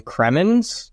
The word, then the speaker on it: Cremons: and this week we are here with kremin I did I pronounce that correctly nailed it cool awesome welcome